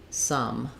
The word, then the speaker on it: sum: asking about some and sum so these two are the same pronunciation both vowel schwa just like sun and sun so that schwa vowel can be spelled with an o or with a u so some I need